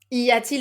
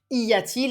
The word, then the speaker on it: y a-t-il: Y a-t-il is a bit more difficult because you need to remember the inversion maybe, and also this T in the middle that you need to have a smoother pronunciation.